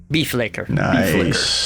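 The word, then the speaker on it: Bifleikr: Crawford for Translating that for me can you spell that one more time b i f l e i k r beef ler beef ler beef ler beef licker beef licker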